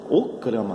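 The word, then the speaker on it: Okhrana: Okrama, graças aí, Okrama. Professor, como é que se escreve esse negócio?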